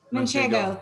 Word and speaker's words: Manchego: Manchego, thank you.